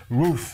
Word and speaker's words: Routh: Non, déjà, excuse-moi, mais le type, il s'appelle Routh, tu vois, genre, Routh. Le mec, on prononce son nom, on dirait qu'on aboie. Routh.